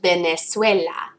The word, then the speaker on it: Venezuela: ah Venezuela remembering that when we actually pronounce the V out loud it sounds like a B in Spanish Venezuela okay yeah okay number